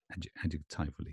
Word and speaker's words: adjectively: Secondary stress is on the first syllable, yes. Adjectively.